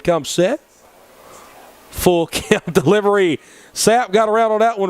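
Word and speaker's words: Tsapp: We'd assume the T is silent. As Vento will look in and come set. Full count delivery. Sapp got around on that one really well.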